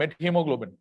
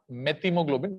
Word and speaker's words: methemoglobin: if you have a met hemoglobin remember that is not methemoglobin that is met hemoglobin so because I I've seen many people pronouncing it as methemoglobin meth is wrong it's not a uh